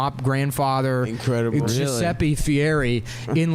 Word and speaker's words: Fieri: best part though dude he pronounced his name Fieri yeah and he was born guy Ferry he was born guy